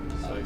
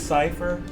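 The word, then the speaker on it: Seifer: So, how are you supposed to pronounce his freaking name in Final Fantasy 8? Cipher. Cipher. It is Cipher.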